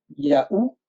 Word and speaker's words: Yahou: Yahou, ça s'écrit Y-A-W. Hein, Donc W, c'est ou.